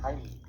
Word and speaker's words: Heimlich: Bien, vamos a ver en este video la maniobra de Heimlich, que por cierto, esa es la pronunciación correcta porque está en alemán.